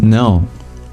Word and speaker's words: know: And the letter K is not pronounced now, is it? You don't say, I can know something.